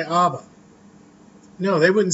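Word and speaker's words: אב: It comes from the word, which we would pronounce Ab, but it's A-B.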